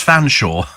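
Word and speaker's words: Featherstonehaugh: remember being taught that the family name Featherstone goof is pronounced fans Shaw that's even more bizarre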